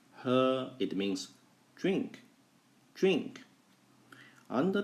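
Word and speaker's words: 喝: I made just now yes this word is pronounced her it means drink drink under the Sun is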